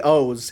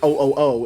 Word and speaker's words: OOO: know just like well the one with the three o's is called not kamen rider ooo it's kamen rider o's i like that using